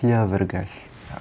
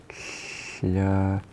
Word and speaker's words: llyfrgell: The word for library is tricky because llyfrgell. I'll write this. Llyfrgell. Llyfrgell.